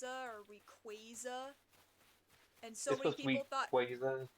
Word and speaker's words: Rayquaza: It's like the frickin', the pronunciation of, it's supposed to be Rayquaza or Rayquaza.